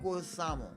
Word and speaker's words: Leguizamo: Leguizamo.